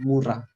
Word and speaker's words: murah: Even expensive and cheap, we call it mahal and mura. Seriously? Yeah. But in Indonesian, mura is spelled as MURAH, right?